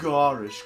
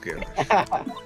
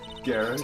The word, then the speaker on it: garish: standing next to a garish car you it's pronounced garish garish a nice car a garish car the chief prosecutor was